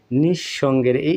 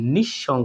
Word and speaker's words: নিঃসঙ্গ: শব্দ লেখি নিঃসঙ্গ তাহলে এইখানে দেখুন বন্ধুরা যে নিঃসঙ্গের এই যে দন্তের নিঃসঙ্গ দন্তের স্বরটা আমরা ডাবল করে উচ্চারণ করতেছি নিঃসঙ্গ নিঃসঙ্গ ঠিক আছে নিঃসঙ্গ তাহলে